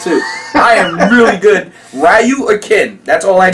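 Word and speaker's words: ryū: That this whole time, me and all of my buddies were calling this guy Ryu, when the real pronunciation of it is Ryu, which has a meaning of martial family.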